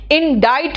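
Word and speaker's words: indict: कि अच्छा देखो मैम, इंडिक्ट नहीं बोलते हैं इसको, इंडाइट प्रोनाउंस करते हैं।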